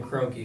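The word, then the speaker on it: Kroenke: my frustration goes to the top so Stan croaky because he wants to because that actually how you pronounce his name yeah he wants to ease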